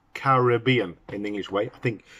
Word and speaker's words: Caribbean: caribbean and it's pronounced caribbean in english way i think in america they say caribbean but we say our caribbean caribbean but we say caribbean with the extra syllables there as it should be and it's one r